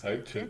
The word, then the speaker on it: 再见: how do you pronounce Can it? you read it? 再见. Cai Jian. 再见. Yes, Cai Chen.